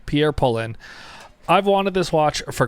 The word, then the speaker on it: Pierre Paulin: the Jump Hour by Pierre Paulin. That's not how you say it. Please correct me, but I believe Pierre Paulin.